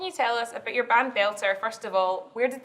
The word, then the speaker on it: Beltur: So it's it's a very unique name now, and it's a lot more Glasgow as well. It's how you say it. Aye, Beltur, that's it.